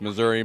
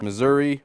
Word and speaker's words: Missouri: It's It's Missouri, Missouri.